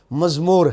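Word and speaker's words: מזמור: ہے زامر اور مزمور، عبرانی میں جو اس کا تلفظ ہے وہ مزمور ہے، تو عربی میں آ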